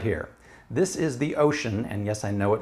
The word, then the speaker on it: Wouxun: this is it right here this is the ocean and yes i know it looks like it's spelled wiksan but it's pronounced ocean kg805g and on it i have the upgraded